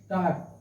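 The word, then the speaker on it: taught: टाट, ये हो गया टाट। पढ़ाया, टाट मीन्स पढ़ाया, टी ए यू जी एस टी, टाट। अब देख लीजिए, यहाँ जी एच जो है साइलेंट है, ठीक है, क्योंकि जी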